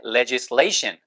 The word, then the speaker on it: legislation: 그 다음 입법이라고 할 때 legislation 레 액센트 있어요. 션 바로 앞에 있으니까 legislation 해서 입법 됐죠?